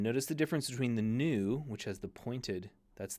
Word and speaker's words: nu: oops salon and notice the difference between the new which has the pointed that's the n Sound